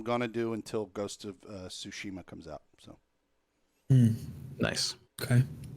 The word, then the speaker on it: Tsushima: The correct American pronunciation of it is Tsushima.